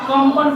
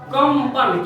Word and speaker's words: कंपन: दिक्कत नहीं होना चाहिए, क्योंकि यहाँ कंपन पढ़ते हैं, कंपन। क्यों? क्योंकि इस अनुस्वार से आगे क्या है प, तो प का पंचम वर्ण यानी कि म हो जाएगा, होगा ना?